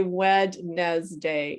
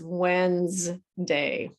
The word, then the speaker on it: Wednesday: We don't say wed day. It's Wednesday.